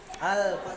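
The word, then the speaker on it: Al-Fath: Al-Fat ini bacanya. Al-Fat. TH. Itu dia.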